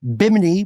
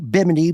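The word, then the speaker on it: Bimini: Do forgive my misprononunciation there is well-intentioned but we do pronounce biminy biminy biminy correctly in our live shows.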